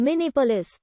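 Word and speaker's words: Minnehapolis: school master charles hogue proposed mini police with a silent etch combining the dakota word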